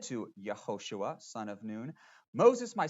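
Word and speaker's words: יהושע: And its central character, of course, is Joshua, or in Hebrew, pronounced Yehoshua. Kind of sounds like Jesus, doesn't it? They share that name together, a name which means Yahweh saves. Now, Yehoshua receives a very important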